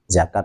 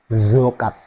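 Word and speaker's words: زكاة: Kalau misalnya zakat tadi ya, zakat diucapkan seperti huruf zo, zokat, zokat. Nah, itu malah lucu. Atau diucapkan seperti huruf dal, zakat, zakat. Nah, itu salah itu.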